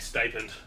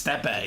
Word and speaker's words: Stipe: I see his name and I think stipend. It's Stepe. It's Stepe? Stepe. Stepe. So that's how you say it.